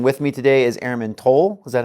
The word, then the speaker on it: Toal: Sergeant Schaefer and with me today is Airman toll is that how you pronounce it yep and she is from AFV